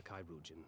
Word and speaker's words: chirurgeon: But it's imperative we get him inside and into the care of a Chirurgeon without delay.